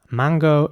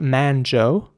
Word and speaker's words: mango: Mango is spelled M-A-N-G-O, and it's again very important to pronounce the G like a G. So it's not manjo, it's mango.